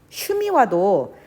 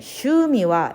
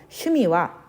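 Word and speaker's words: 趣味は: 함박 및 오한 법 그래서 슈와 미 난 같은 박자 에요 그래서 후에는 장음 이었기 때문에 슈미 와 이렇게 발음하면 안되고 슈미 와 이렇게 발음 해주세요 슈미 와 예 무대 s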